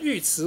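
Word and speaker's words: 尉迟: 迟恭哈，尉迟是一个复姓，是那个鲜卑人的姓氏，啊，而不会读成尉。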